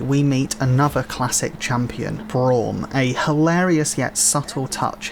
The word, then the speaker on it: Braum: did you call malawi i think it's pronounced braum not brum are you referring that